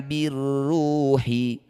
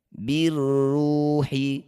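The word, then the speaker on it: بِالرُّوحِ: Alif lam diikuti tasydid disebut bacaan namanya idgham syamsiyah. Cara bacanya alif dan lamnya abaikan. Kalau yang qamariah tadi baca dengan jelas. Kalau yang syamsiyah tidak usah dibaca atau diabaikan. Birruhi jadi bacanya langsung pada huruf yang bertasydid. Birruhi min amrihi.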